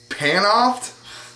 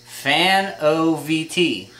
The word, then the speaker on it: Fanovt: What is that? Panoft? Close. It's Fanovt.